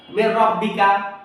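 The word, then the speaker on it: مِن رَبِّكَ: এর ভিতরে ঢুকায়ে গেছে এই নুন সাকিনের উচ্চারণ হবে না তাইলে মির রব বা জবর র বা জের বি কাফ জবর কাফ মির রব্বিকা মির এরকম ধরা যাবে না মিম ধরা যাবে না মির রব্বিকা মির রব্বিকা মির রব্বিকা মির পরেরটা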